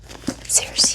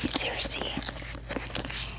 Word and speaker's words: Circe: Circe, Circe. I believe the Greek pronunciation of it is Kirki, Kirki.